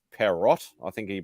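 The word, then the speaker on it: Pierrot: It's actually got a French name. It's Perrot, I think you pronounce it.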